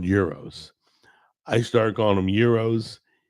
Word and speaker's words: gyros: It is euros, right? Okay. A lot of people say gyros. And I know what they're talking about. I don't correct them.